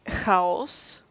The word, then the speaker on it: Хаос: It is spelled with an X, A, O, and C. Yeah. Which in Bulgaria would be read as haos. Yes.